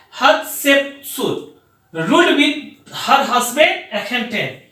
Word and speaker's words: Hatshepsut: तो queen हत्शेपसुत, हत्शेप HATSS के बाद में HUPSUT, हमने स्पेलिंग क्या लिखा, HATSHEPSUT, इसको हम लोग कहते हैं हत्शेपसुत, रूल्ड विद हर हस्बैंड एखेनटेन।